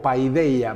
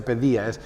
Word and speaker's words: paideia: Se lee en español como paideia, pero se pronuncia pedía, por eso pediatría o pedagogía.